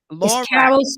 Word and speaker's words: Lorac: It's Lorac Publishing Company. Lorac. It's Lorac. Carol spelled backwards, actually.